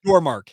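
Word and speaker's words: Yormark: Or excuse me, is it Brett Yormaker? Is that how you say it? Your mark, your mark. Your mark. Thank you. Yes, your mark.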